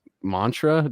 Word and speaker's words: Maentra: He's a drummer of Cartilage, and is it pronounced Maentra? Just is the E? Perfect. Yeah, E's silent.